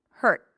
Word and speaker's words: hurt: And that's how people recognize that it's a t hurt. Right. So someone said the neck stops vibrating right away. Exactly. Right. The vibrations of the vocal cords stop hurt.